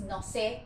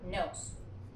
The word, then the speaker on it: nose: Luego tenemos la palabra nose, que es nariz, y se pronuncia de esta manera, no es no sé, es nose.